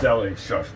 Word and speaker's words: Delhi: um how about uh it's delhi shush it's delhi it's pronounced deli i've got the co